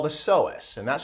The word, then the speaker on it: psoas: what we call the psoas and that's spelled p-s-o-a-s the p is silent but we say psoas so um it's it's